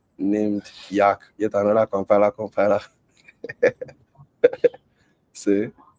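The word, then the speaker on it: Yacc: is why it's named Yak yet another compiler compiler see the compiler tool is bison Sim to his bison name the on the pronunciation of yak like Yak yeah I get that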